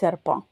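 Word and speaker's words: serpent: சர்ப்பா பா என்டின்றது பா இந்த கடைசில இருக்கற டி வந்து உச்சரிக்க மாட்டோம். சர்ப்பான்.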